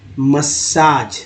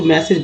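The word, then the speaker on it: massage: relax with an Ayurvedic मसाज। देखिए मसाज का spelling क्या होता है, लोग इसको मैसेज पढ़ देते हैं गलती से, क्योंकि यहाँ पर बस ई रहेगा तो मैसेज, अगर ए रहेगा तो मसाज, इतना समझिए यहाँ पर पढ़ने में।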